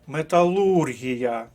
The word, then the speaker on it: металургія: словник і третє слово нелегке металургія третій склад Отож правильна відповідьдва г